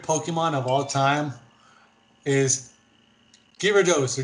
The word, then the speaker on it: Gyarados: so my favorite pokemon of all time is gyrados or jirados i know how to pronounce it yes gyarados gyarados and this is for two reasons number